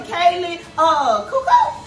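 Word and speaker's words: Kaley Cuoco: Okay, and then we have the lovely Kaylee Cuoco.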